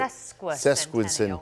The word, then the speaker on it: sesquicentennial: And there is also a big push to find alumni to return to the school for the sesquicentennial. Is that how you say it? Sesquicentennial.